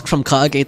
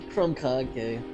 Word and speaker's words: Krumkake: Okay, Krumkage is a real thing. But it looks like, actually, it's pronounced Krumkaka, not Krumkake. Maybe they just didn't want to say the word kaka in there.